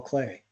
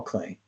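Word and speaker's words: Klee: cool so ex excellent his last name is spelled kle Paul clay uh Whit me hi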